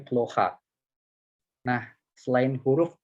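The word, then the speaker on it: плохо: Nah, kata yang kedua itu ploha. Ini huruf O-nya juga sama kayak haroshi ini nggak ada di akhir. Teman-teman langsung lihat aja huruf O yang kedua di sini. Yang nggak kena stres. Dia jadi dibacanya jadi huruf A. Jadinya ploha.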